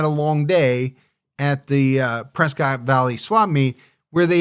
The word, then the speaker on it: Prescott: that it's actually pronounced Prescott. Prescott? I did not know that, but I'm going to try to remember it. As in like a biscuit.